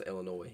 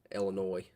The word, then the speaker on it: Illinois: Autumn, I know the S is silent. I don't know how to pronounce Illinois.